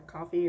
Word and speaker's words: Ko-fi: I also, so when I first discovered Ko-fi or coffee or however you want to pronounce it, I definitely went on a printing rampage.